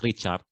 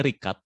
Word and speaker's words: Rikat: First of all, my name is Rikat, but people usually misspell it as Richard. It's actually Rikat, so like it is.